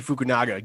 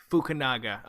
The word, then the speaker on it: Fukunaga: name it's easy it's carry Joji Fukunaga get it right Fukunaga okay good naga but